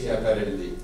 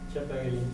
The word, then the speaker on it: Schiaparelli: Schiaparelli. Schiaparelli. Merci beaucoup. Je cherchais la prononciation de ce mot-là.